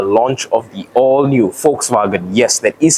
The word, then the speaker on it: Volkswagen: are at the launch of the all new Volkswagen yes that is how you pronounce it folks vagen German tare this is